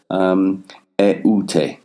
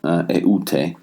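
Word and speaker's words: ἠΰτε: And it shows that the two vowels have to be pronounced separately.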